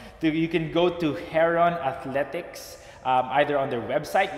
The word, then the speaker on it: Heron: we just got confirmation and how to actually pronounce the product name you can go to hair on athletics either on their website which is triple